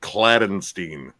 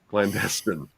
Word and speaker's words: clandestine: because it was okay because he kept saying cladenstein I was like wait what I was like no I see I probably I probably would have said that too it's clandestine right or something how do you say it again clandestine all right clay you